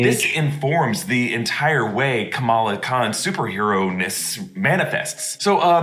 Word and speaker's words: Kamala: And yes, I like how in the trailer they have to correct Kamala Khan versus Kamala Khan. It's a bit of a reversal because when we first heard of Kamala Harris, a lot of people mispronounced it as Kamala Harris and she had to correct us. But here, Kamala has to fix it back, so it's Kamala Khan.